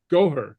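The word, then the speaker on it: gobhar: Oh, this one's Gore? Goher. Oh. Goher. Oh, I see, yeah. Goher. Okay, yeah. Yeah, it's two syllables, kind of fast. Goer. Okay. Goer. Not gore, but goher.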